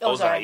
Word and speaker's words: Ozai: Ozai, yeah.